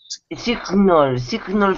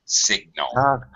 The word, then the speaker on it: signal: Everyone messes this up because when it's without the suffix, it's sign, and the G is silent. But then when it has the suffix, you pronounce the G. Signal.